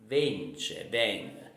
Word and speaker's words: vence: Vence, vence. We never pronounce, we always cut off the last vowel in Neapolitan, okay, the most of the time, okay, so that is important to remember.